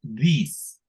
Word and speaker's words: these: Entonces, cuando hay muchas personas, digamos, utilizamos these. These, miren, se escribe diferente, pero se pronuncia igualito que este. Bueno, no tan igual. Tienen que, tienen que hacer sonar la S al final un poquito más largo.